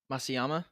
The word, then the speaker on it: Matsuyama: Henry, how do you pronounce the golfer's name? Masayama.